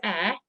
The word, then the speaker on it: Eyre: So my surname is Eyre, like Jane Eyre, and it was my brother-in-law that came up with the brand name Green Eyre.